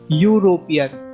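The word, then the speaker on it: European: अगर हमने एन लगाया, क्योंकि यूरोपियन, ई साइलेंट है। ठीक है, हम सीधा यू से शुरू कर रहे हैं। यूरोपियन, यूरोपियन नहीं कह रहे, हम कह रहे हैं यूरोपियन। ई यूरोपियन गलत होगा।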